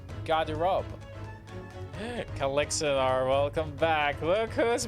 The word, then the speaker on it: Garderobe: Oh, that's how it's pronounced. Garderobe.